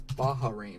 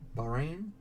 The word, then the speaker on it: Bahrain: how to pronounce that I always thought was Baha rain but it is just boring right Bahrain but anyway so here's